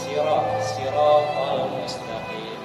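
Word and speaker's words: صراط المستقيم: Ujung lidah ditempelkan ke gigi seri bawah. Kemudian pangkal lidahnya, kan ini kan ujung nih, tempel ke gigi bawah ya, gigi seri bawah. Yang pangkalnya itu ke langit-langit mulut. Jadi bacanya sirat al mustaqim. Itu yang paling fasih.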